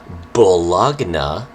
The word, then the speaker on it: bologna: literally how it's spelled it's spelled b o l o g n a bullagna is what it's actually called but i relate that and then translate it into bologna i don't know how